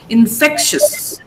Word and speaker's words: infectious: Now, what happens here in these words, TIOUS, OUS, most people tend to pronounce it ES. ES, but that is wrong. You just say S. Laborious. Infectious. Don't say infectious.